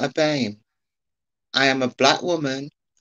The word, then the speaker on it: BAME: How do you pronounce it? Is it BAME? BAME.